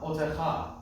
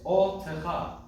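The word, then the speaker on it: אֹתְךָ: Now, another really subtle intricacy here is that there's a meteg under the aleph. It's a secondary accent on a very short word, I might say. It doesn't happen this often. Usually it's on 4 or more syllable words. So it's not otecha, it's otecha. Well, don't separate it, but otecha. Right? Because there's an extra accent. Otecha, as opposed to otecha. Do you hear the difference?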